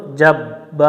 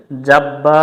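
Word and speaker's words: الجبار: আজিজুলহ আজিজুল জিম্বা জবর জাব্বা আলিফ জবর বা জবরের বামে খালি আলিফ এক আলিফ টান দিয়ে পড়বো এখানে এখানে অনেকজন ভুল করে জাব্বা না পড়ে জব্বা পড়ে এটা আমরা খেয়াল করে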